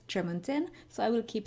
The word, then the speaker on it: Tremontaine: And I also learned that Ellen Kushner pronounces it Tremontaine. So I've been saying Tremontaine, but now I learned that the author herself says Tremontaine, so I will keep saying Tremontaine.